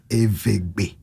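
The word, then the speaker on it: Eʋegbe: And the pronunciation in my language is Evegbe.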